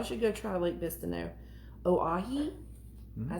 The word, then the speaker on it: Oahe: Oahe.